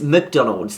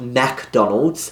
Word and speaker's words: McDonald's: want to work there I better pronounce it right it's McDonald's not MacDonald's I probably thought you